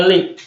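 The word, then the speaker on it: لِ: Ini li di sini harokatnya memang dibacanya li kalau sendirian. Tetapi kalau sebelumnya ada huruf, maka li ini harokatnya sukun. Misalnya ada wawu, maka menjadi bacanya wal. Ada fa, bacanya menjadi fal.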